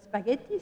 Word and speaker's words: spaghetti: là aussi petite réflexion la prononciation change et pourquoi parce que la longue change en français c'est la syllabe finale donc spaghetti ça devient spaghetti pizza devient pizza ça nous plaise ou